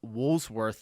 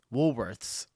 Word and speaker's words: Woolworths: That's the fourth American that I've heard them pronounce Woolsworth that way. Where is the S in the middle? Woolsworth. Wsworth. Woolworths.